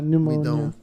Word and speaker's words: pneumonia: But yeah, pneumonia.